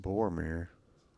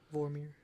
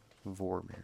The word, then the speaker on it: Vormir: It's not Boromir. No, that's How's it pronounced? Can't remember how that's pronounced. Not that place. Vormir. Vormir, yeah.